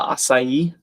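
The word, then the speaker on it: açaí: Raina and Banshee and Mitch Mitch and Smoke are saying acai. Bill Henderson. Yeah. Asai. Three syllable syllables in four letters.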